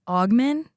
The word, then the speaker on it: Augmon: So you had a cousin, Stacey Augmon.